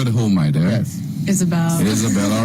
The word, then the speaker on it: Ysabel: Ysabel, even with a Y. Even with a Y. Well, it's the Spanish spelling, so you can say Ysabel.